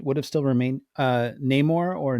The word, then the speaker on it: Namor: of elements would would have still remained uh Namor or no more however you want to pronounce it um I kind of think that